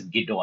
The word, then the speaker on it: Guido: Guido, it is to be pronounced as Guido only. Guido, you don't say. Guido van Rossum.